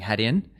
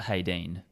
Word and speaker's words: Hadean: It's not haden. A lot of us when we came up the name were saying Haden. And then so there was some correction around the office and we all then had to, you know, get it right. Haden. It's not Hayden.